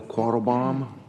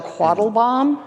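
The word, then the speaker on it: Quattlebaum: you chair calls quarrelbaum did i remotely pronounce that correctly you did okay good deal if you would please state your name my name is quattelbaum and whom you represent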